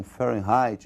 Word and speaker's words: Fahrenheit: escala que é escala fahrenheit para eles lá eles pronunciam Fahrenheit e nós vamos pronunciar aqui do modo aportuguesado ou seja nós vamos falar de Fahrenheit mesmo eh a escalin Fahrenheit